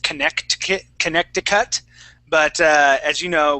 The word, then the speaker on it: Connecticut: yeah so it's contic contic contic Connecticut Conneticut that's it okay so that I believe there there's a c in there it's actually it should be pronounced connect Connecticut but uh as you